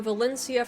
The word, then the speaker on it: Valencia: pronunciations are different so valencia for instance would be pronounced valencia using the castilian spanish although i had a couple of comments from people who actually lived in spain and they were like yeah i know we pronounce it as valencia too so i don't know